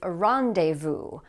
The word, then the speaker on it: rendezvous: It's not pronounced like that in French, but notice that like in French, the S here is going to be silent.